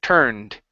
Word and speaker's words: turned: the word turned okay the UR here instead of being toned it's tur like her turned turned Darwin turned his